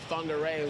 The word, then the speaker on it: Whangarei: Yeah, especially when you got to say Whangarei without an F.